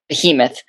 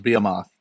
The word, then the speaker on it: behemoth: imagined bamoth other Behemoth my wife always says it's pronounced Behemoth what how is that word pronounced I I I've always been partial to be moth but uh you know the the Nerds weers claim that it's Behemoth all right so you